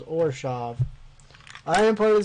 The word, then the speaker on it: Orzhov: Are you going Orzo or I don't remember how to pronounce it. I watched the video on how to pronounce it and now I can't remember and I feel kind of dumb. Hold on. Now I'm going to have to look it up. Hold on. I'm going to look up how to pronounce it because I'm an idiot. Ravnica Allegiance Mechanic Spotlight, the Orzhov Syndicate. Orzhov, that's what it was.